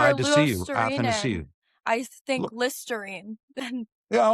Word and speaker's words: Athanasiou: And I sort of say, well, Athanasiou, like, glad to see you. It's sort of just like that. Yeah, like for Glad to see you, Lusterinen, Athanasiou.